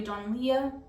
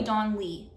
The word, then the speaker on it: Donlea: Okay, next we have Don't Believe It by Charlie Donlea. I always say that. That's not how you say it. Charlie Don Lee.